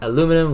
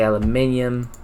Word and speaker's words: aluminium: You say, then he was kind of serious, and he was like, you say aluminum, we say aluminium.